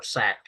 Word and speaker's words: Sauk: section the migration of the sock uh or sack uh as I've also heard it pronounced uh and msaki fox